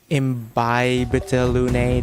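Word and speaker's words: Imbibitor Lunae: First on the list, and finally revealing his true power, we have Dan Hung, Imbibiter Lune. Imbibita Lune, that's how you pronounce that.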